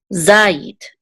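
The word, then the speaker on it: זַיִת: And this is a yud with a chirik, and then the tav will together say yit, zayit, zayit, and this means olive, zayit.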